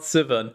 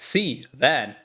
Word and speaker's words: Sivan: It's not Sivan. It's C van. It's like a van, but in Spanish.